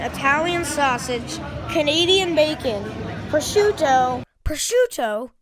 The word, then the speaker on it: prosciutto: Prosciutto? It's pronounced prosciutto.